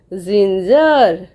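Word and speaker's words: ginger: जदी जी लेटर परे ई अछि आई अछि आउ वाई अछि ताहले हमर साउंड आसीबो कोन प्रोनाउंस करबा ताको कोन ना ज हैला. तो G-I-N-G-E-R कौन हम जिंजर जिंजर देख लो एडी G-I-N-G-E-R जी पर आई अच्छी तेणु आमर कौन साउंड आसीबो ना ज.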